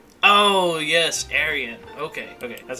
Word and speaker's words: Aryan: Aryan. Oh yes, Aryan.